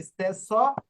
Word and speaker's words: stesso: জি স্যার se estenso না, e non ইস্তেসো কেন, ইস্তেসো, এখানে ডবল এস এর stesso উচ্চারণ স্বর মতো হবে, ইস্তেসো।